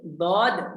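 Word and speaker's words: ضاد: Untuk dot, sod, dod, bisa? Itu ada alifnya ya pengucapannya ya? Ya, betul. Panjang.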